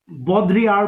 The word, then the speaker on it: Baudrillard: Okay, बॉडीलार्ड, बॉद्रियार भी बोलते हैं, एल का साउंड नहीं आता है इसमें.